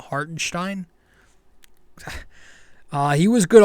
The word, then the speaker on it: Hartenstein: I think it's they they change the way they pronounce this kid's name hearten Stein is now hartenstein exactly uh he was